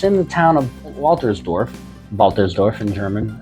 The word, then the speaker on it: Waltersdorf: One problem with this being that far out, it's in the town of Waltersdorf in German. My pronunciation is probably still not correct, but that W is pronounced like a V.